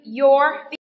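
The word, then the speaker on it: you're: Your viết tắt của you are. Và khi viết tắt như thế này thì chúng ta đọc là your. Your.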